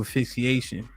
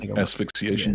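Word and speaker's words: asphyxiation: herself in prison and she died through affixation is that did I pronounce it correctly yeah AIX she affixiated asfixiation yes um and they talking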